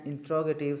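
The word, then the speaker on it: interrogative: वी put sign of इंटरोगेशन एट द एंड ऑफ एन इंट्रोगेटिव sentence. इंटेरोगेटिव भी पढ़ा जाता है, इंट्रोगेटिव भी पढ़ा जाता है, इसलिए मैं दोनों प्रोनाउंसिएशन को यूज़ कर रहा हूँ।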